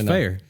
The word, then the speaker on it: Fayer: No, it's Fayer. Yeah. Well, he said it's like mayor.